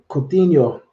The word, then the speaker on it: Coutinho: How do you pronounce it? Contino. Philip Coutinho, Coutinho.